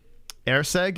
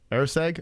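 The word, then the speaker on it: Erceg: circle so far you should have round one air seg is that how you say it air seg okay all right so I was I was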